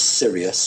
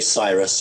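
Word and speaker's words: Sirius: a interesting group from what you guys would pronounce as serious or sight we say Cyrus I think you say serious and the very interestingly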